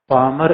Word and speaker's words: Palmer: पामर and Perkins, पामर and Perkins ने कहा कि वर्तमान विश्व में PAL, या एल साइलेंट है, PALMER, पामर एंड परकिंस, जो परकिंसन लॉ होता है, परकिंस PERKINS।